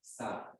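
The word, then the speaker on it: Sah: Sa. Who? Sa. Sa. Hello. Spell it, darling.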